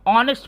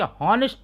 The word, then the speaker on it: honest: आप ध्यान देना, नीचे भी वैसे है ऑनेस्ट, यहाँ भी HONEST को हम ऑनेस्ट पढ़ेंगे, हॉनेस्ट नहीं पढ़ेंगे, बात समझ में ना।